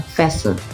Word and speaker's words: fasten: do not pronounce the T for example in pronunciations listen become listen soften BEC become soften Castle become castle and then fasten become fasten and then moisten become moisten but for the